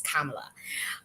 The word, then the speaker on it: Kamala: saying her name because I just found out that I was pronouncing her name wrong is Kamala or I was saying Kamala so I guess it is Kamala um so uh um